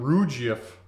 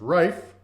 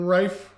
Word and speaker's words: Rife: rife interesting i i called him rouge if for a long time i mean rouge if that's kind of how it's spelled but it's rife sent in a question